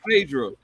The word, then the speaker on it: Phaedra: Her first name is spelled P-H-A. P-H-A. Oh. Yes. Oh, Phaedra.